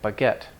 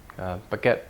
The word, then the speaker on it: baguette: the French stress pattern modern French words like baguette baguette bread but get stress in the last syllable that's French French style